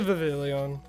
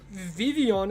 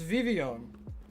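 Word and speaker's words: Vivillon: And Vivian is how you're meant to pronounce it. The L's are silent. Believe it or not, it's Vivian.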